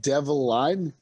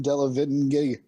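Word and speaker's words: Delevingne: the witch oh uh karen devline yeah i butchered the model let me try to say it devil line carry devil line devil line how did you not get that from della vin i did i just wanted to hear more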